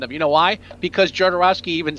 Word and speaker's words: Jodorowsky: Now, you say Jodorowsky. Jodorowsky? Whatever. Well, and I've always heard it, and they say it in the documentary, but it's the J sounds like a Y, Jodorowsky.